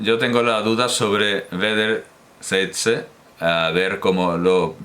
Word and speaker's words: wederzijdse: Yo tengo la duda sobre wederzijdse, a ver cómo lo pronuncia exactamente. Que significa mutuo, por cierto. Au. Wederzijdse. Wederzijdse. Wederzijdse. Es como ei, ¿no? O ai, ei.